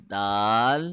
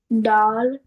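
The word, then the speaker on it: دال: you not to do don't produce the uh sound at the end try to say it's Dal D doll and it should be more gentler and softer don't touch the tongue too hard it should be more softer okay it it does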